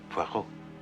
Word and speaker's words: Poirot: I've got a parrot with Mr. Poirot. No. Poirot. It is pronounced Poirot.